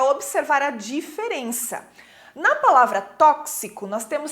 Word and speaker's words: tóxico: Então, eu tenho 6 letras, mas eu tenho 7 fonemas. Por quê? Porque eu não pronunciei tóxico, né? Eu não falo tóxico, e sim tóxico.